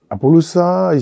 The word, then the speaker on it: Apollosa: Apollosa, si on veut le dire, bon, nous, au Congo, S entre 2 voyelles, ça se prononce S, c'est pas Z comme en France ou en Belgique. C'est S, ça reste S. Et les U, ça se prononce OU.